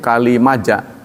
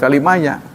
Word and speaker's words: Kalimaja: Makanya disebut dengan ee batunya itu Kalimaja bukan kalimaya, Kalimaja sebenarnya karena ditemukannya di kali-kali yang ada di Maja.